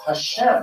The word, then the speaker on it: Hashem: the name Hashem itself, that's spelled with an H. How do you say that? So therefore, to indicate it, Chabad added a special letter here, that's the Russian letter G, with a little accent on the top to indicate it should be pronounced as an H.